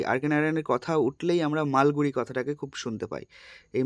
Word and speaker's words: মালগুড়ি: এটা একটা দক্ষিণ ভারতের কাল্পনিক শহর মালগুড়ি, যার নাম, এই প্রোনাউন্সড, এই উচ্চারণটা কিন্তু ঠিক করতে হবে, হ্যাঁ, এটা কিন্তু মালগুডি নয়, মালগুড়ি।